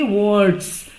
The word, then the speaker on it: warts: और golden squash means कद्दू और विद सिल्वर वर्ड्स, WARTS, इसको हम बोलेंगे वर्ड्स. आर इसमें अ लिटिल बिट साइलेंट है, और वो जो कद्दू